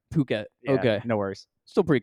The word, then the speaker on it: Phuket: sounds like it um it's pronounced Phuket Phuket okay no worries still pretty close close um